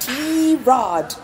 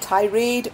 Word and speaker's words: Tirade: cast and mind you it's pronounced T rod not tirade or T Reed or however else you want to call it yeah and we are